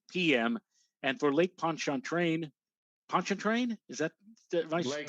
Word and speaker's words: Pontchartrain: And for Lake Pontchartrain, is that, am I Lake pronouncing that correctly? Pontchartrain. Pontchartrain.